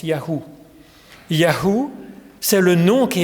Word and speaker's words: YHWH: y V YH WH ce qui se prononce Yahou comme dans natanou nataniaou l'éternel a donné alors c'est vrai que